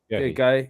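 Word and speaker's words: Guéhi: Guy? Guy, yeah.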